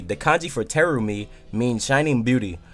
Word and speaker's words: Terumi: The kanji for Terumi means shining beauty. However, they are usually pronounced with a longer lengthened I sound.